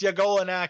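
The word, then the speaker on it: Y'golonac: And Yagolanak is spelled with a Y apostrophe. So it's like it's your Golanak. Boy. Yeah. Like, yo, it's Yagolanak here.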